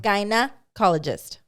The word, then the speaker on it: gynecologist: Gynecologist. I can't even say it. Gyna. Like vagina. Gynecologist.